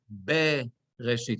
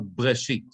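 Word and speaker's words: בְּרֵאשִׁית: Okay, so you see that under the bet, it's 2 squares, which tells us we read it as bereshit, it's not breshit.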